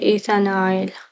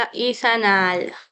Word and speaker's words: إيثانال: إذا كان الدهاي بنسميه إيثانايل، لا إيثانال، إيثانال، خلونا أكتبها عشان نطق غلط.